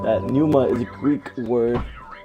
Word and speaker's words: Pneuma: dud here and welcome to another let's play Numa so I know how to pronounce it because like it's said in the thing me before this screen right here it's said that Numa is a Greek word I don't care okay